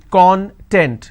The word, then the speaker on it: content: I break it into two syllables. When I pronounce this as content, it means ingredient or index. When I pronounce this as that means happiness or being self-satisfied.